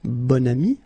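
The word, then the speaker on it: bon ami: this adjective okay and then you pronounce it bonami when you make this link second example un bam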